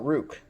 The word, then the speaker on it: Ruike: the budget end so I call it Rook r-u-i-k-e Rook I'm calling it Rook